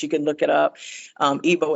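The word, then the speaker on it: Igbo: Ebo is spelled EGBO, like the G is silent, but you can look up Ebo Landing and go.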